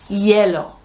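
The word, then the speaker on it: hielo: new word which is yellow yellow is um ice it's it's it's spelled h i e l o and it sounds like yellow it sounds almost like the color doesn't it so uh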